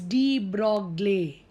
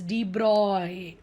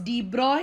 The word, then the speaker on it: de Broglie: l i e most of us think it's d broccoli correct but the correct pronunciation is de bruyne so what is the broad equation so whenever we say b-r-o-g-l-i-e it's d braw he was a french scientist lewis d broy